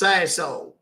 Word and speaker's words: Sassohl: It's pronounced Sassol.